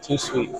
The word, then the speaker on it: Tout Suite: How do you say it? Tout Suite. Too sweet.